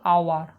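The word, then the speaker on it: hour: আওয়ার এখানে কিন্তু এই কি না সাইলেন্ট, এখানে কিন্তু হচ্ছে আমরা এইচের সাউন্ড হচ্ছে সাইলেন্ট, মানে এইচের সাউন্ডটা হচ্ছে মিউট রয়েছে, অর্থাৎ এইচের কোনো এখানে সাউন্ড নেই। সাউন্ড হচ্ছে কিন্তু আওয়ার, আগে আসছে আ, আগে আসছে আ, আর আ হচ্ছে একটি ভাউল সাউন্ড, সেই কারণে হয়ে যাবে অ্যান।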